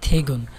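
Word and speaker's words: 퇴근: থেগুন থুইগুন বাট উচ্চারণ হবে থেগুন, থেগুন কাজ শেষ, থেগুন অর্থ হচ্ছে কাজ শেষ।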